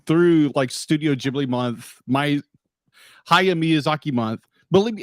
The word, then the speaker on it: Hayao Miyazaki: It's Hayao Miyazaki. Hayao Miyazaki.